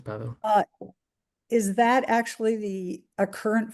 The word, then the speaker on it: Pawel: And Pawel, am I pronouncing your name correctly? Pawel? Yep, that's correct. That's Pawel.